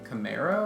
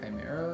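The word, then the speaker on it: Chimero: screens want uh that's by Frank Camaro I think Chimera is how you say his name um but had to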